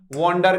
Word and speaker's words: wander: एक बड़ा प्यारा वर्ड है और वो क्या है, वॉन्डर करना, WANDER। दोस्तों इसको आप वॉन्डर होगा प्रोनाउंसिएशन।